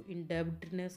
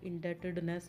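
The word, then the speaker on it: indebtedness: इसको इंडेब्टनेस नहीं बोलेंगे, इंडेटेडनेस बोलेंगे. इसमें बी साइलेंस है, साइलेंट है, तो इसको बोलेंगे इंडेटेडनेस.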